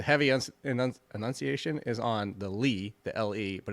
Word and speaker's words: Legette: up I've been saying it wrong it's not Legette you ready what it is leet leet so there you go Xavier leeet I'm going to get as used to that